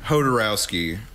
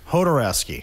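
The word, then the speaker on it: Jodorowsky: How do you say his name again? Hodorowski. Hodorowski, okay. And the documentary being like the sort of exploration of what happened to his version of Dune.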